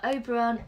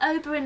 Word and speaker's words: Oberyn: dinner they bastard what Oberon Oberon Oberon this isn't Midsummer Night's Dream what oberyn martell x' bastard daughter